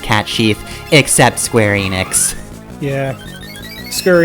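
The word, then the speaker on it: Cait Sith: everybody's figured out that it's a supposed to be pronounced cat Chief except Square Enix yeah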